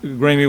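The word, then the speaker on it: Graeme: everybody know where uh i think it's pronounced grammy way g-r-a-e-m-e actually haven't been up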